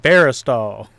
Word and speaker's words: Verastahl: Veristol.